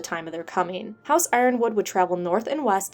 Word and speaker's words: Yronwood: house Martell this video I'm actually going to pronounce it house Ironwood since that's the only pronunciation I haven't given any love to however if you watch my other videos you can pronounce it as yonwood uran wood yuron wood Etc it just depends on who you talk to house Ironwood came to